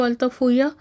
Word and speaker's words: Altafulla: उस लिहाज से अगर देखा जाए तो अल्ताफुया, जो स्पेनिश में बोलते हैं लेकिन लिखने में इसके स्पेलिंग्स अल्ताफ़ उल्ला के हैं, और ये मुस्लिम नेम